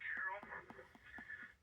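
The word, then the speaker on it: Carroll: And we would like to call it Carullo. And you spell that c a r r o l l.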